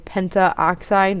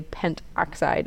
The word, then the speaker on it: pentoxide: a at the end instead of saying penta oxide that sounds a bit funny so we say pentoxide instead so let's look at